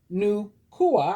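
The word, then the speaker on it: Nüwa: At the time of what the Hopi and Shansi people of northern China call the great chaos in the universe, Nukua, pronounced Nukua, I did it right, the dragon-bodied goddess, came to restore order.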